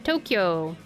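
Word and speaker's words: 東京: Kind of like the capital of Japan, Tokyo. Even though Tokyo is spelled with just to o k y o, it's actually to o u k y o u.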